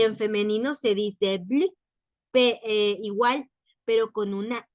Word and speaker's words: bleu: Y las 3 formas se pronuncian igual, pero se escriben diferente.